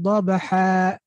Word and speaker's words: ضَبْحًا: So it becomes وَالْعَادِيَاتِ ضَبْحًا with a med.